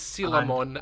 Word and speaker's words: Coelamon: I call him Colamon. I call him Coelamon. So there we go with 3 different pronunciations. It is Sealamon, as in coelacanth, the fish.